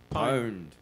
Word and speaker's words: pwned: here we go ah now how do you pronounce that PW any D word owned at least they agree I didn't know how